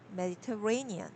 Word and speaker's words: Mediterranean: yeah, the stress is placed on Ray, Mediterranean.